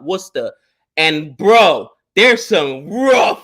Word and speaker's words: Worcester: right outside of Boston it's spelled were Chester but with their accent it comes out Worcester and bro there's some